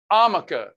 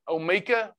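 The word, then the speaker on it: Omica: coffee as a creamer amica tammy davis on facebook it's not amica it's uh o-m-i-c-a amica i think's the way they pronounce it omeka maybe but they have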